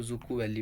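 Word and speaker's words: Dzükou: जुकू वैली इसमें डिसाइलेंट होता है। इसको जुकू वैली पढ़ते हैं।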